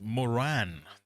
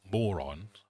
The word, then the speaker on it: Moran: but if that was if it was Moran, you would say my name's Moran, not moron.